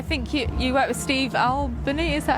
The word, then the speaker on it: Albini: Now, your new album, I think you work with Steve Albini, is that how you say it? Steve Albini.